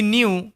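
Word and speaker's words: knew: হি নিউ সে জানত এখানে কে silent. ওকে এন এর আগে কে থাকলে কে সাইলেন্ট হয়ে যায়।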